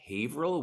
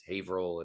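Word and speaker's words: Haverhill: it's it's actually pronounced havil which is weird it's well it's a Massachusetts thing it's like none of the towns are pronounced as their as they're spelled out so it's like it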